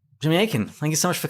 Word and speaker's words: Akin: is spelled the normal way, and Akin is spelled the normal way. It is just 4 letters, exactly like it sounds. Akin. So it's Akin.